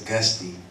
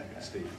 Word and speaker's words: Auguste: It's Auguste. So you pronounce the E in there. Auguste.